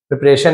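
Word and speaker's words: preparation: हिज प्रिपरेशन अपने तैयारी प्रिपरेशन यानी तैयारी ये टीआईन को हम शन पढ़ते हैं शन नेशन मोशन है ना श?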